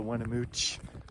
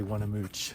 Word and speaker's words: Weminuche: not been to the Winnemucca or the winamucci I don't know how to pronounce it I think the locals say wanna mooch so I'll try and stick to that if you haven't been